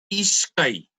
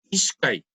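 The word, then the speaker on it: ishkay: 2, Ishkai. Tal como está escrito. Ishkai.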